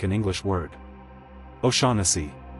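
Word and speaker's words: O'Shaughnessy: Americans sometimes say osi or o shagni like the gh is doing something heavy. The corrected version is o sha. Sha like sha then n then c. O sha. Try it. O sha again. O sha. Memory trick. Ignore that gh completely and aim for the rhythm.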